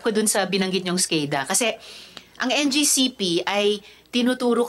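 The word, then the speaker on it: SCADA: of question doon sa skada skada pala yyung pronunciation non So yung logs niyo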